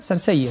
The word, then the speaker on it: Sarcelles: ¿Cómo se pronuncia? Sarcelles.